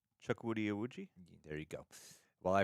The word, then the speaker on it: Chukwudi Iwuji: So to me, while I feel like, do you know how to pronounce his name? Chukwudi Iwuji?